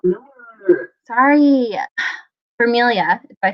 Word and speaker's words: Vermilyea: Sorry, Vermilia, if I say it right. Vermilier.